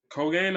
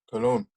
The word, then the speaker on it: Cologne: Then on the Sunday, we got Colgane, I think. Colgane. I'm not sure. Excuse my pronunciation. Versus Mainz. How do you say it, Rio? Cologne. Oh, Cologne.